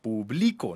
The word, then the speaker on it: publico: Publico, no lleva tilde. Y es que yo realizo la acción de publicar.